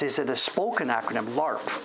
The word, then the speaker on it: LARP: Is it pronounced? Is it a spoken acronym? LARP.